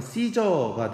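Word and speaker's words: Caesar: 그러면서 이제 이 카이사르가 이제 영어식으로 발음하면 시저가 되거든요.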